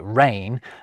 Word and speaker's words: reign: Benign or malign, the French deigned to assign silent G's to words like rain, and we've aligned with their design.